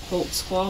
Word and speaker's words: Holtzclaw: I'll let your name there because I don't even know how to spell it. I can how do you say your own. Name? Daniel Holtzclaw. Holtzclaw.